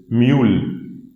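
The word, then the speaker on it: Müll: This is mule.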